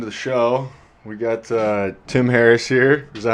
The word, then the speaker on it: Tim Harris: We got Tim Harris here.